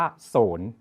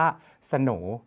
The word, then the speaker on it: โสน: ส เสือ น หนู ถ้า เกิด ใคร ไม่ รู้ ก็ จะ อ่าน ว่า ศูนย์ แต่ จริง ๆ แล้ว ต้อง อ่าน ว่า โสน นะ ครับ ดัง นั้น